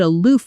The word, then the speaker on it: aloof: I found her a bit aloof at first, but once I got to know her, she was actually very warm. Pronunciation. Uh aloof. Aloof. Notice the O sound like the word food.